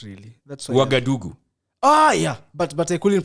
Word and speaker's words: Ouagadougou: Ouagadougou. So she used to tell us to just say the easiest name. Ouagadougou. Ouagadougou, because that's how it's like spelled, but that's not how it's pronounced.